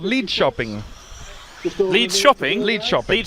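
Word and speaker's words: Linköping: n g okay pronounced lid shopping lid shopping K is pronounced with a sh interesting yeah so get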